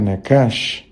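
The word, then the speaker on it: נחש: Y la palabra serpiente en hebreo se pronuncia nakash, que significa evidentemente serpiente o susurrador, el que susurra.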